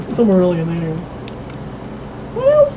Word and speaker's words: Silmarillion: The video game depiction of how do you pronounce it? It's Silmarillion. Silmarillion, there you go.